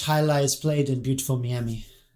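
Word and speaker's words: Meeami: shitty about it because it is very easily pronounceable they're from miami yeah m-e-e-a-m-i beautiful miami is it a palm trees and lots of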